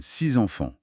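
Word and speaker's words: six enfants: Si le mot suivant commence par une voyelle, par exemple 6 enfants, le X se prononce Z. Ça donne 6 enfants.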